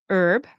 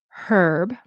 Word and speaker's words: herb: So, I think Americans will say herb, right, with not pronouncing the H. Canadians very often will pronounce the H, herb.